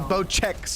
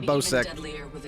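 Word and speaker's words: Bocek: bo sex compound the bow checks i have been pronouncing it wrong it's bow check this precision weapon requires patience and pinpoint consistency the bow check not the bow sex yeah that gun is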